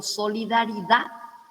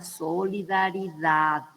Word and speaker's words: solidaridad: Entonces, por ejemplo, solidaridad es vulgar, ¿verdad? Es un barbarismo porque se pronuncia mal. Entonces, la palabra correcta en lengua española es la solidaridad, ¿verdad? Se tiene que escuchar la D final.